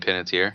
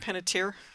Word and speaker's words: Panettiere: Hayden Panettiere. Panettiere.